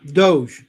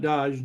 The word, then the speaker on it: Doge: Yeah, Doge. Not Dodge. Doge. Oh, I'm saying it wrong. Yeah. No, that's all right. Because Dodge is actually a make of car.